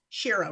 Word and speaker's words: Shiro: Shiro rhymes with hero.